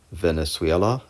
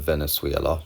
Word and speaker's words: Venezuela: You don't have to do much with the first word, Venezuela. You just have to pronounce it a bit differently, Venezuela, because it's a loan word and we pronounce it differently in English and Swedish.